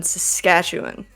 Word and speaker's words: Saskatchewan: Then Alberta, and then Saskatchewan.